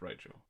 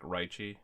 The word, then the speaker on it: Raichu: oh and I think raichu's name was like raichi yeah like it was just kind of like putting the e sound at the end of it whatever but yeah so